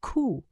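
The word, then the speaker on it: 九: Die Ziffer 9 ist fast genauso schlimm, denn sie wird als Ku ausgesprochen und bedeutet also Leiden.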